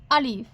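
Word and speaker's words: ا: আলিফ, আলিফ। শুধুমাত্র একটি লম্বা টান দিলে হয়ে যায় আলিফ। দ্রুত উচ্চারণ করবেন আলিফ।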